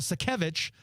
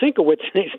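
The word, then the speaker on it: Sienkiewicz: a while I used to pronounce it Switz no wait a minute it's sevich so we got it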